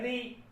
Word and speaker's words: ऋ: अभी हमने बताया कि इसका उच्चारण हम ऐसे करते हैं, री, ठीक है। जबकि यहां पर जो शामिल होगा इस री में र और ई शामिल होगा, जबकि र का उच्चारण मूर्धा से होता है और ई का उच्चारण तालु से होता है।